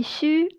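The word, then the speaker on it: 嘘: Pour prononcer xu, la bouche est légèrement ouverte, la langue est plate. Il y a un espace entre les dents supérieures et inférieures ainsi que entre les dents et les côtés de la langue.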